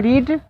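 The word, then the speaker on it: read: meaning वही रहती है उच्चारण चेंज होता है रीड रेड रेड होता तो ही है रेड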